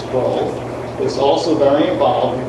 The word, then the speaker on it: Kroll: Kroll, because we always pronounce it wrong, it's Kroll, is also very involved and concerned with district initiatives.